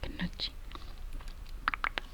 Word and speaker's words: gnocchi: That is how I'd pronounce it, gnocchi.